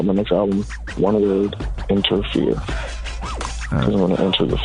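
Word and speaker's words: Enterfear: album uh whenever totally It's called it's called um inter fear that's crazy we're just talking about fear but it's one word and it's spelled like e n t e r f e a r a interfere I'm entering fear and at the end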